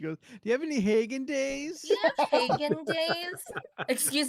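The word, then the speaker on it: Häagen-Dazs: Steph, it's pronounced Hagen Days. You're so annoying. Don't fall for that. Don't fall for that. I'm not gonna start saying that. I'm not. I know it's wrong.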